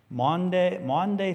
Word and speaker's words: Maundy: So the pope will wash feet on what's called Maundy Thursday. Now, it sounds like Monday, Thursday, but it's spelled differently for those denominations that